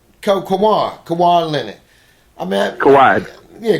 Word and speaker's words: Kawhi: Kawhi. Yeah, Kawhi.